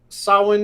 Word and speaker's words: Samhain: And yes, your boy Pat, Samhain is pronounced Samhain.